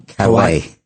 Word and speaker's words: Callais: Calais. Calais? Yeah. Callais.